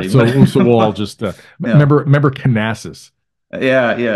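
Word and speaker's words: Knasas: So we'll all just remember Canassus. Yeah. Yeah. Right. We said Nassus forever until he got on Matthew Cote's dissertation, and he's like, "No, you pronounce the K."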